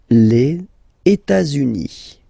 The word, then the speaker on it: les États-Unis: Les États-Unis. Okay, so if we make every links, we'll have it here and then here. Okay, les États-Unis.